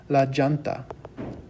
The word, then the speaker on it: llanta: A lot of people would pronounce this la llanta.